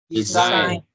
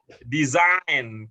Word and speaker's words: design: Yang pertama apa bacanya? Sign. Yang kedua? Sinyal. Signal. Ya, kemudian yang ketiga? Signature. Terus yang keempat? Design. Kemana S-nya? Kemana S-nya? Design.